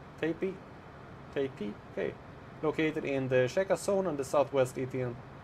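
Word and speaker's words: Tepi: The vowels in the name are pronounced as in the English word tape or P. Tepe.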